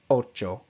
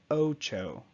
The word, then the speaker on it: ocho: First we have ocho, ocho. Now if you read this word in English, you may want to say ocho, ocho. Now I'm exaggerating a little bit for example purposes, but we tend to add that little twang, that little tail on the end of the O.